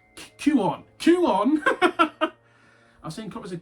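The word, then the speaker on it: Kuon: I've seen copies of, and I can't pronounce this, I say Quan, but I've been told many times it's not. It's like Q-on.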